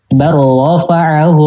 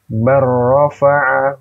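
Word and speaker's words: بَلْ رَفَعَهُ: Barrafa'ahu Allahu ilaih. Oke. Bar rabbukum rabbus samawati wal ard. Bar rabbukum rabbus samawati wal ard. Oke. Berarti ini dibacanya idgham ya. Karena kenapa? Karena depannya lam sama ro.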